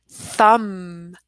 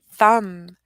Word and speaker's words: thumb: on them right so we don't pronounce that B we just learned that this B is silent and so that's gonna help us pronounce these words Bom Bom thumb thumb and dumb silent B